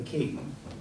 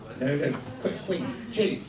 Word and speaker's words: Qing: First of all, under the king, do I pronounce that properly? The kingdom? King. Yep. That's an English word. Ching, I'm sorry.